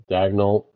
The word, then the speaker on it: Dagnol: Dagnol I think is how you're actually supposed to pronounce it.